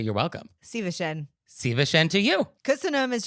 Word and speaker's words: Szívesen: Szívesen. Szívesen to you. Köszönöm is just like thank you. Köszönöm szépen is more formal. Mm-hmm. Well, let's be formal, Leah. Köszönöm szépen. Szívesen.